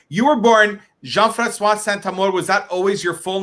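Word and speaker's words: Jean-François Saint-Amour: Wow yeah amazing all right you were born jean-francois santa more was that always your full name always been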